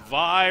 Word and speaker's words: Vi: Vi rhymes with die, and that means anything that I touch right now.